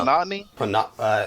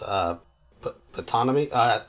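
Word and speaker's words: Ptonomy: uh, Panatni. I believe it's pronounced Patanomy.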